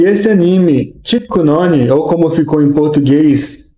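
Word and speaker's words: キックの鬼: Mas em japonês, a pronúncia é Tikkunoni, que pronunciando separado seria Tikku no Oni.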